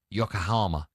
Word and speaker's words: Yokohama: Yokohama. Yokohama. FM. How do you spell it?